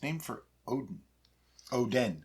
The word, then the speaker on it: Oden: Oden. Odin. That's why it's spelled differently.